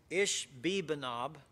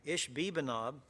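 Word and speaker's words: Ishbibenob: he was weary and one of the philistines ish bibanob is how you pronounce that one ish bibanob and what it means is the inhabitants the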